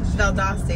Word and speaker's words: Valdosta: Valdosta, yeah. But you Valdosta, always what do you, Valdosta.